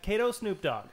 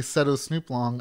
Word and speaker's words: Setosnooplong: Yeah, Is pronounce it right. Kato Snoop Dogg.